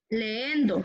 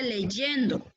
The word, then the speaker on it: leyendo: Por ejemplo, creo que no se dice leendo, se dice leyendo.